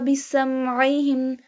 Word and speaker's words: بِسَمْعِهِمْ: Allahu لَذَهَبَ بِسَمْعِهِمْ Seen pronounced like a whistle sound.